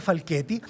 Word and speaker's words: Falchetti: En Facebook, Giovanni, se escribe Falchetti, Giovanni Falchetti, pero se pronuncia Falchetti.